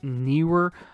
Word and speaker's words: Neewer: This is the Neewer, or it's spelled Neewer with two E's, so I'm pretty sure it's Neewer.